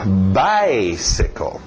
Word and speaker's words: bicycle: Importante bater no by. Depois nós veremos porquê, mas mantenha o ritmo do inglês. Lembra, o português tem o seu ritmo, o inglês tem o seu. Então, bicycle. Morre no final.